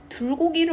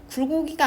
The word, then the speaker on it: 불고기: 자, 보기를 참고해서 정확한 발음을 하도록 조언을 할 거다 했는데 지금 외국인이 불고기를 먹고 싶다고 처음에 얘기했다가 불고기야? 라고 물어봤더니 굴고기래요. 굴고기가 아니라 불고기 할 땐 또 누고기래요.